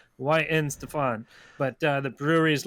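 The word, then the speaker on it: Weihenstephan: i can't pronounce i i looked up how to pronounce this beer is why in stefan but uh the brewery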